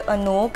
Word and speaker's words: Anouk: It is from this brand called Anouk. It's spelled as A-N-O-U-K, Anouk by Myntra.